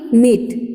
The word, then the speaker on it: knit: Strains हम लोगों ने रीड किया था ना, ये के साइलेंट लेटर है तो इसकी प्रोनाउंस क्या होगी? निट.